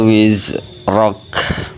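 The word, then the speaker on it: وزرك: Wa wada'na anka wizrak. Ro-nya dibaca tebal dan diikuti huruf kaf yang mati, maka kafnya dibacanya hamz keluar angin.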